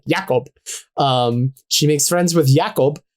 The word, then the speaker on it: Jakob: Who's, I say it like that because I'm pretty sure that's how exclusively it is said in the movie, like Jakob.